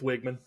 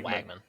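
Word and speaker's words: Weigman: Really? It's Wigman. Wigman. I always say Wagman.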